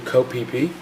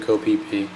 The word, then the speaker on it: Koh Phi Phi: And we were taking the ferry over to Koh Phi Phi, which is this amazing little island. It's spelled Phiphi, and Koh is what goes in front of all the island names in Thailand.